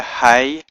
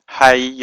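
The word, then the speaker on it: היא: is this word here he y or Y Alf which is pronounced he so the word for she is the word he y Al which is pronounced he so I hope that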